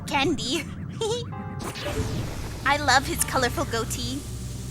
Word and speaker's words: Goht: mechanical monster mountain goat I know some people pronounce his name as got but I I like goat mostly because he looks literally like a goat all right let's go